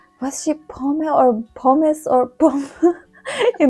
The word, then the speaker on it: Pomme: Pomme. Pomme.